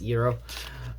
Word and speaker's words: gyro: know the Euro um if you wanted to know how gyro was pronounced it's Euro uh the slurp is